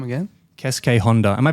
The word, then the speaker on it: Keisuke Honda: Keisuke Honda. Am I pronouncing that right, Yuki?